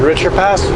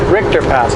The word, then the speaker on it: Richter Pass: Koval what's your called richer past Richter Richter Pass I was mispronounced that always Richter Pass it's not sticking but